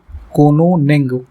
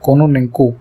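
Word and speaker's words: Кононенко: हाल ही में किस देश के अंतरिक्ष यात्री ओलेग कोनोनेंग, है ना, कोनोनेंको, ये पूरा नाम है, थोड़ा सा प्रोनाउंस करने में ध्यान रखिएगा।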